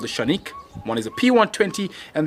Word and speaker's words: Canik: both are called the shanique one is a p120 and the other is the tp9 elite combat sometimes mispronounced as canik and i was very politely corrected on that pronunciation by my turkish friends we've got the original